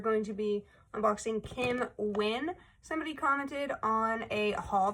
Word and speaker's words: Nguyen: I called her Kim Nan. Kim Nugan. They said that usually most people pronounce the name Wyn. So, Kim Wyn, it says her major is a fashion design focus.